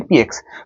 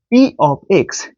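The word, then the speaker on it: p(x): করি এভাবে তাই না এটাকে লিখি ঠিকই বাট উচ্চারণ করি পি এক্স বাট এটা কিন্তু পি এক্স না এটার উচ্চারণ হচ্ছে পি অফ এক্স পি অফ এক্স অর্থাৎ এই ব্রাকেট থাকলে অফ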